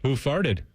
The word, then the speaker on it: Hoofarted: Who farted? Is that what it is? Yeah. It's spelled hoof. Hoofarted.